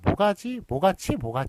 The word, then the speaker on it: 모가치: 그런데 하여간 사람들이 다 모가치 이렇게 부른단 말이에요. 시옷을 다 탈락시켜서 부릅니다. 그렇기 때문에 그래서 그 원형을 인식하지 못하기 때문에 그냥 발음대로 모가치로 이렇게 쓰기로 했다.